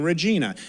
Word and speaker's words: Regina: nice to be in Regina. And they come up to you afterwards and they go, it's Regina, like vagina.